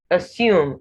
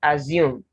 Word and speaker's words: assume: you have here vertically you have assume not assume i have not come across